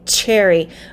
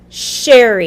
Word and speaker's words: Cheri: with the ch sound specifically many of my latino friends will say cherry but my name starts with the sh sound sh sherry even though it's spelled with ch yes alex we're going